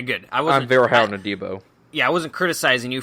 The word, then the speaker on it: Adebo: Paulson Adebo, I had kept saying Adebo, but it is Paulson Adebo, also a guy that Ross Jackson loves, and yes, check out Dilly Sanders' thread on him.